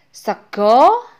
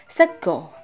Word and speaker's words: sega: pertama adalah school gamblang sego artinya nasi tulisannya memang segar tapi membacanya seko nasi jamblang dalam bahasa